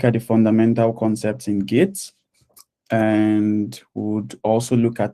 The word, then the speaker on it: Git: hope we look at the fundamental concepts in gits and would also look at the simple project